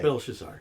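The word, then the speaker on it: Belshazzar: a minute you see I'm saying it wrong no you're correct it's Bel shazar CU I'm you know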